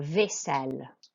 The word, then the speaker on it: vaisselle: Okay, we have AI, which is an A sound, not an I sound. Okay, it's an A sound. So vaisselle.